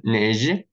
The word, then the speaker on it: neige: Они все произносятся как Ж. Ж. Ж. Причем вот сами буквы эти не читаются. Например, слово неже.